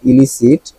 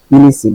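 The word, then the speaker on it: illicit: না এলিসিট এটাও ইলিসি দুইটার উচ্চারণ কিন্তু সেম এটাও ইলিসি এটাও ইলিসি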